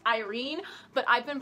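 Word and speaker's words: Yrene: wife I realized that her name is technically pronounced Irene but I've been pronouncing it you're een so I'm sorry so Roman and leave and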